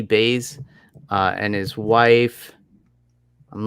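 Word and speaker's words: Buys: it is uh i believe it's baze it's pronounced b-u-y-s j.p baze uh and his wife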